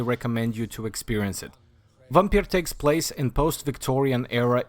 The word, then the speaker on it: Vampyr: It's pronounced like we do in the Eastern Europe. Vampyr.